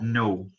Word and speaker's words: know: E depois uma outra observação, essa palavrinha well know, esse K do know, ele é mudo, ele não precisa ser falado, tá bom? Daí fica know.